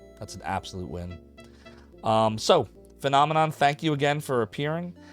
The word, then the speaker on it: finamenon: That is how you say it, is Phenomenon. Not Phenomenon. Don't be me last year.